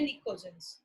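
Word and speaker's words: pnictogens: ठीक है, इन्हीं को हम क्या बोलते हैं, निकोजेंस। पी यहाँ पे साइलेंट है, NiCOGENS। ग्रुप नंबर 15 होता है नाइट्रोजन फैमिली, इन्हीं को हम बोलते हैं निकोजेंस।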